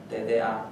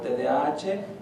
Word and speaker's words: TDAH: la idea de que la H no se pronuncia y exagerándolo un poco porque no pronunciamos ni siquiera el nombre de la letra pues simplemente decimos tda y ya no pero ya sea